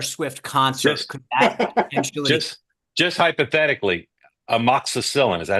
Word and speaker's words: amoxicillin: at a Taylor Swift concert just just hypothetically amoxicillin is that how you pronounce that yes it is yeah is that